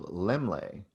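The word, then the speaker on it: Laemmle: of the nephew of lemley and lemlay is the name you probably know lemley theater you might be saying it wrong in california he was a huge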